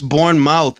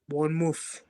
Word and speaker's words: Bournemouth: It's pronounced Bournemouth, by the way. It's born mouth. M O U T H. Born mouth.